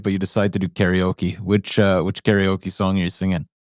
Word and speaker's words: karaoke: I correct them but it's like in karate karate yeah because that means empty okay is Orchestra so empty Orchestra karaoke oh that's how they pronounce it so it's not karaoke first of all and